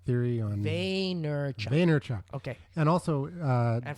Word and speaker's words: Vaynerchuk: it's the Gary uh vaynerchuk yeah Gary Gary vanderchuck theory on vaynerchuck vaynerchuk okay and also uh and for the guy that can't pronounce things it's amazing well I'm the guy